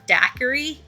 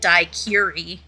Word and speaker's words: daiquiri: an issue but um he pronounced the word daiquiri really strangely and so I messaged stars and I was like how do you say this word like do you pronounce this differently because you are German because the reader was saying it dicuri repeatedly like he said that four times It threw me off,